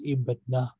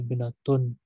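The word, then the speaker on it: ابنة: When I stop here, I will pronounce ibna. I will not say ibnatun, but I will say ibna, malika, hasana.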